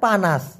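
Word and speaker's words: panas: বলার জন্য অনুরোধ রইলো পানাস পানাস মানে হলো গরম গরমকে মালয়েশিয়ান ভাষায় কি বলা হয় পানাস এখন আমাদের বাংলা ভাষায় পা মানে ঠ্যাং নাচ মানে হচ্ছে নাচানো হ্যাঁ পানাচ তা ওদের ভাষায় এসে যায়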